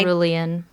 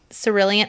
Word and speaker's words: Cerulean: I think it's By- Cerulean. Cerulean. So it's with an S, even though it's spelled with a C.